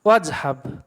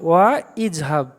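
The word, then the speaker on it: واذهب: আলিফটাকে silent করে দেবো, বলবো একসাথে জড়িয়ে দেবো ওয়াজহাব। এমনি ভেঙে পড়লে কী হতো? ওয়া ইজহাব। কিন্তু আমরা পড়বো কীভাবে? বাক্যের মাঝে থাকলে আমরা ওয়াইয়ের পরে আলিফ থাকলে আলিফটা পড়বো না, ওয়াজহাব।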